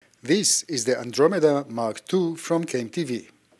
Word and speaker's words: Andromeda: have a new light this is actually the under meda mark ii did i pronounce it right yeah the andromeda mark ii oh man i guess you have